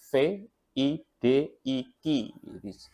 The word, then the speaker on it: vidIQ: Trik dari vidIQ, atau saya bacanya biasanya vidik karena tulisannya memang VIDIQ. Biasanya orang bacanya vidIQ atau vidik begitu.